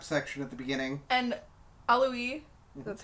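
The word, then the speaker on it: Auli'i: And Alui, that's how you say her name? Yes. Ali'i.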